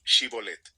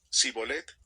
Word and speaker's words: Shibolet: Si él contestaba: «No», ellos decían: «Muy bien, di Shibolet». Si decía Sibolet, porque no podía pronunciar la palabra correctamente, lo agarraban, y allí mismo, en el cruce del Jordán, lo degollaban.